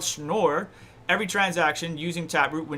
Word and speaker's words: Schnorr: Just tell me how to pronounce it. Schnorr. Okay. Schnorr.